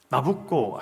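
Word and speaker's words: Nabucco: 베르디의 오페라 나부코 아시죠? 나부코가 이탈리아 발음으로 느부갓네살 왕을 나부코라 그래요.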